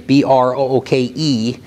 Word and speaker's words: Brooke: And my last name is B-R-O-O-K-E, It's pronounced Brooke, and I call myself